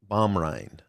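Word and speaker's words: Baumrind: Diana Bomind. Bomrind.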